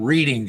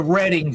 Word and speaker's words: Reading: Since you brought that up, it's called Reading Standard, not Reading Standard. Okay, that's how we say it out here.